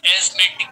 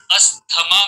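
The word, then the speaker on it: asthma: जैसे आमतौर पे जैसे हम लेमेंस लैंग्वेज में इसे कहते हैं अस्थमा कहते हैं, बट इसका जो सही लफ्ज है एस्मा, प्रोनाउंसिएशन है एस्मा, एस्मा, एस्मा, अस्थमा नहीं है।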